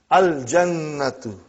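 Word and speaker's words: الجنة: Brother, you will pronounce lam. Al-jannatu.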